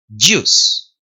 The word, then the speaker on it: juice: Pronuncia la D medio solapadita y la Y más fuerte. Y. Y. Y. Juice.